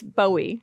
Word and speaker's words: Boey: Is it Bowie? It's Bowie. Bowie. It's like Joey, right? Joey Bowie. It's not buoy gooey. It's Noy Bowie. Noi Bowie. Bowie.